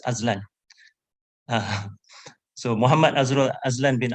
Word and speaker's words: Azlen: But I have asked him whether it should be pronounced Azlen or Azlan. So he confirmed to me it's Azlan.